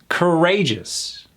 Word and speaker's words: courageous: So it's not courageous. That O U is gone. It goes right into the c. Let me hear that. C. Courageous. Emphasis on that second syllable.